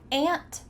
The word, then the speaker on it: aunt: But maybe you didn't know that they're pronounced exactly the same. So I'm going to say these words, and I want you to repeat with me. Are you ready? Ant, ant, ant, ant.